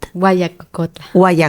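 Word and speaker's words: Huayacocotla: como digas uac cotl guayacocotla guacolda claro la H se pronuncia como una G Gua guacolda desde una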